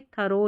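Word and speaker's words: thorough: टी एच को थ करके पढ़ा जा रहा है। लेकिन ओ साथ में है इसलिए आप ऐसे याद रखें थरो या थरोली इन स्पेलिंग्स दो स्पेलिंग्स में ही है इनका उच्चारण।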